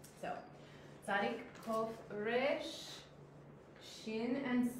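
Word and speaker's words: שִׁין: We have shin, and we have sin. Shin makes an SH sound, sin makes a S sound, and she helped me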